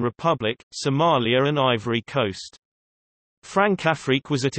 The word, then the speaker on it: Françafrique: Francafrique, French pronunciation, F-Safik, is France's relationship with its former African colonies.